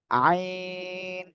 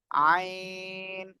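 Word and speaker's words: عين: যে আইন ঠিক আছে এই অক্ষরটা কি আইন গলা চেপে হ্যাঁ কি বললাম গলা চেপে গলা চেপে আপনি চার আলিফ টেনে এই অক্ষরটি উচ্চারণ করবেন আইন আইন এক কথায় আমি যদি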